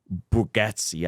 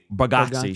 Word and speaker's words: Bargatze: And the number one grossing comedian right now is Nate Bargatze. I think that's how you say his name. Did I say that right? Bargatze.